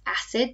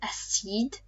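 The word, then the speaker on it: acide: our cognate here but it's not pronounced acid but a seed anytime we have ui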